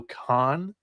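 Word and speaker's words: Kohn: I heard Chris Lemonis on an interview say Pico Khan is maybe how you pronounce his last. I've always said Cone, so I apologize to Pico on the last name pronunciation there.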